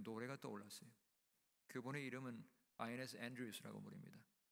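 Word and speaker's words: Inez: 그분의 이름은 아이네스 앤드루스라고 부릅니다. 한국 사람은 이네스 앤드루스라고 읽고 아이네스 앤드루스라고 하는 게 all time gospel singer.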